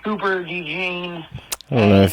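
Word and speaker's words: Cooper DeJean: round uh his name is Quan Mitchell um Cooper Dean that's how you pronounce it but um man Eagles are focusing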